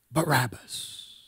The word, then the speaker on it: Barabbas: son of Abbas who was a famous teacher pronounced Barabbas you had the choice between the son of